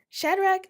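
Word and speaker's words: Shadrack: Shadrach.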